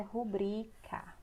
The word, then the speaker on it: rubrica: para quem não sabe o certo é rubrika ela é uma paroxítona ela não é proparoxítona ou seja na palavra